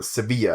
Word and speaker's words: Sevilla: Sevilla is the capital, or Sevilla as it's pronounced, is the capital of which region of Spain?